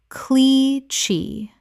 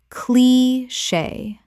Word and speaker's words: cliché: fo pa faux pas Word 205: cliche Common mispronunciation: clee-chee Correct pronunciation: clee-shay Two syllables with the CH making a SH sound from French.